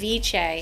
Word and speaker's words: ceviche: Am I pronouncing that correct? Ceviche.